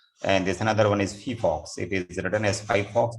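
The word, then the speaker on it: phyphox: And there's another one is Fifox. It is written as Fifox, but pronounced Fifox.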